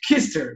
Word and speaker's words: Küster: Hoje eu vou conversar com o Bernardo Kirster, eu tinha essa dúvida antes de fazer, só pronunciar corretamente, Kirster, não é? Com trema Tá, alemão.